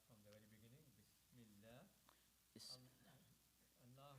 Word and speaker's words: Allah: Allah will be pronounced light because mim before that is kasra, has kasra.